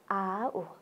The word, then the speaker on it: आऊ: हो अनि फेरि अर्को शब्द पनि उच्चारण गरौँ, आऊ। आऊ हो, आऊ भन्ने, आऊ भन्ने है, आऊ। किनभने ऊको माथि के छ? चन्द्रबिन्दु दिएको छ, त्यसैले हामीले आऊ भनेर उच्चारण गर्ने है।